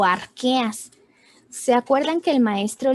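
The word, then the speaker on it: Archaea: cuál es ok es ar que a la ch se pronuncia como que sale arquea bacteria eucar ya las bacterias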